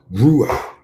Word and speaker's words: Ruach: Ru like a rule. Rule like rule. Rulah. Ruah. Like the doctor tells you to open your mouth. Ruah. Ruah. You know what I mean? Ruah. That's how you say it, okay?